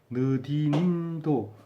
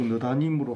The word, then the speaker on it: 느디님: 이게 발음하기가 굉장히 우림과 둔밈도 발음하기 어렵지만 느디님도 이게 자꾸 느다님으로 하고 싶은 생각이 들죠.